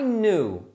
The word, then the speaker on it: knew: Então o sabia você não pronuncia o K, é no e o novo é no.